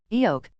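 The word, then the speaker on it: 억: sound right does it the word EO which means 100 million in Korean rhymes with the word hio which is the sound of a gasp as seen in many Korean novels T namu literally means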